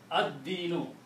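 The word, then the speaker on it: الدِّينُ: It kills the sound of lam. Ad-dinu.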